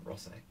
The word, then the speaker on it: Rosset: That's how you pronounce that, Rosset.